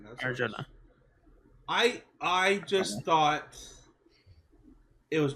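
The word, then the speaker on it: Arjona: I don't know or how to say the Arona. last name. That's Arjuna.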